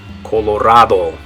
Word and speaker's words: Colorado: In English we would say Colorado. In Spanish you're going to say Colorado. So in English it's Colorado. In Spanish, how do you say it? Good. Colorado.